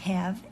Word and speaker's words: have: writing it I have have is tricky because we have that silent E so you you memorize this H have but then we have that e at the end have I have a trick